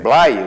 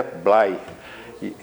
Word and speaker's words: Bley: Blay, o certo, né? Eu já me curvei, a pronúncia correta é Blay.